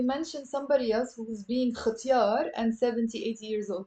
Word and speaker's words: ختيار: Pronounce it as a ختيار, ختيار.